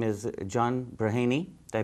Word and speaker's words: Braheny: His name is John Braheny. Did I pronounce that correctly?